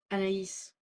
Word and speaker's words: Anaïs: Is that how you say her name? Anaïs? Yeah. I don't know how you say it. You're French. Anaïs. Can you say that then? Anaïs Nin.